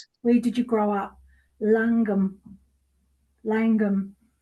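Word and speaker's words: Llangwm: Can you pronounce it or do I need to ask ClariS? Where did you grow up? Langum. Langum. Langum.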